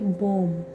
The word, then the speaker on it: bomb: देखिए कुछ B letter साइलेंट्स जो है, नंबर 1 जैसे कि बॉम्ब, बॉम्ब, BOMB, बॉम्ब। हम यहाँ पर बी को पूरा नहीं पढ़ेंगे, बॉम्ब नहीं पढ़ेंगे, यहाँ पर पढ़ेंगे बॉम्ब।